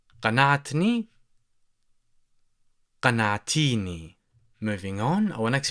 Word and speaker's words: قنعتني: Also, you might hear that in dialect, people tend to pronounce the letter qaf as the glottal stop. So So you would hear people say anatini, or for the masculine, in fact, here you would say anatni, anatni, anatni. And if you're talking to feminine, you would say anatini, anatini, anatini.